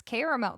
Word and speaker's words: caramel: really all these votes how many syllables are in caramel three it's caramel these these these bows